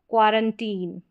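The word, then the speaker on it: quarantine: फिर यहाँ पर है क्वारंटीन, ठीक है, क्वारंटीन यहाँ पर उच्चारण दे रखा है, इन्हीं को आप पढ़ ले।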